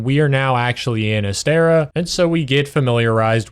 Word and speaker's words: Astera: It's Astera. All right. I do know how to pronounce things now that they have real dialogue.